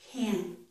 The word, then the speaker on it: can't: This one is ah. I can't hear you. I can't hear you. Can't. My mouth is opening more for that vowel.